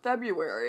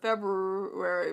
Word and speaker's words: February: I even forget how to actually spell it because I keep thinking it's pronounced February instead of February. But some people say you need to pronounce the rary.